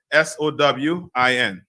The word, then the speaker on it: Samhain: Yeah, Sowin. Right, it's spelled Samhien.